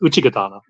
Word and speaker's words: Uchigatana: He's saying it needs to be pronounced Uchigatana.